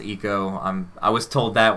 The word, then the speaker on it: ICO: last guardian um i a lot of people call it ico it's pronounced eco i'm i was told